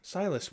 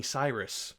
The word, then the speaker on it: Silus: still to this day, people get my name wrong. they'll read it out or they just don't remember and call me something different. Like someone at work calls me Cyrus. People have called me Sillis or Silas.